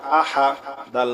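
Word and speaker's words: أحد: আ হা জবর হা আহা দাল দুই পেশ দুন আহাদুন থামলে হবে আহাদ ঠিক আছে কুলহু আল্লাহু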